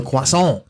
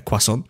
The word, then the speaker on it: croissant: So like, let me just spell it out how you meant to say it. So it's KWASS, quass, on.